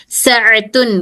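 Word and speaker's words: ساعة: हाँ हाँ हाँ, साअतुन घड़ी, आइन को सही प्रोनाउंस करिए, साअतुन घड़ी।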